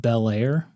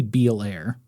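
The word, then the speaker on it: Beallair: I think it's pronounced Belair like The Fresh Prince of Bel Air it's it's b e a l l a i r it could be beair but all right I'm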